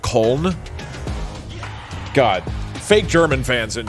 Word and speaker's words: Köln: It's actually pronounced Köln.